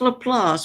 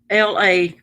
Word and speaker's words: LaPlace: laplace louisiana it's pronounced laplace but it's failed l-a-p-l-a-c-e la place but it's laplace because it's french cajun when that man would